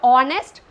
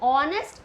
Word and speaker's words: honest: what you'll get here honest or hour so honest hour so we call it as a so we use and here okay as h is silent here though it is beginning